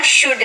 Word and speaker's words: should: शुड का, SHOULD, शुड, यानी कि चाहिए। एल साइलेंट होता है तो आप उसका उच्चारण वहां पर नहीं करेंगे। Okay, शुड।